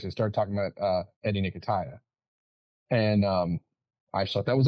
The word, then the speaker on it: Nketiah: It's Nketiah. I just wanted to make sure I haven't been saying his name wrong.